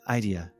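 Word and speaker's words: Eidyia: i a idea oh idea like the the emphasis on the first syllable got it okay yeah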